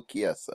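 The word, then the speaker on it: Chiesa: ch Kessa I I'm sorry to keep correcting you on pronunciations but it's Michael Kessa Kessa yes did you realize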